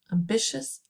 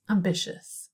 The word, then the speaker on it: ambitious: it ambitious ambitious repeat ambitious ambitious do some individual drilling how many syllables listen ambitious yeah good three and where's the stress ambitious two it's on the second syllable good and then i